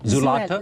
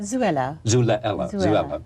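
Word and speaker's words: Xuela: I can't pronounce it, is it Zulata? Zuela.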